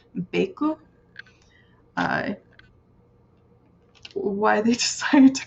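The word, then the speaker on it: ベイク: like this in Japanese, you would actually pronounce it bake, but down here it is actually giving the phonetic as close as you can get in Japanese to how you would pronounce bake, which would be beku.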